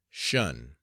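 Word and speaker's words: 'shun: the command Shan Squad abbreviated from attention and pronounced shun if the plea was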